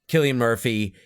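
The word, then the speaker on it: Cillian Murphy: it sounds like chill God how do you pronounce his name chillan Killian K kilan Murphy Killian Murphy will probably win yeah and upon my rewatch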